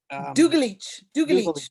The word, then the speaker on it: Dugalic: And if you could educate me on the proper pronunciation of her name, Angela Dugalic. Dugalic.